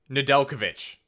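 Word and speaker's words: Nedeljkovic: name again recently and i think it's just nadelkovic i'm pretty sure that jay just isn't there it is but it's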